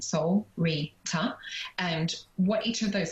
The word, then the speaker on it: Solreta: for example so um soul reader is like a a syllable named soul rita and what each of